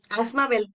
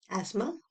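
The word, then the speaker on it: asthma: एस्थमा, emphysema, एस्थमा बोलते हैं इसको, आप लोग एस्थमा एस्थमा बोलते हो। तो इसका सही प्रोनाउंसिएशन एस्मा है, TH इसमें साइलेंट होता है।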